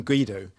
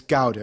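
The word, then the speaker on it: Guaidó: do you say it not i was calling guido but it's gouda isn't it why don't we do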